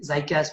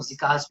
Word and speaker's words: ZICAS: इसकी लोग different pronunciation इसको यूज करते हैं, लाइक ज़ाइकास भी कहा जाता है, इसको ज़िकास भी कुछ लोग कहते हैं.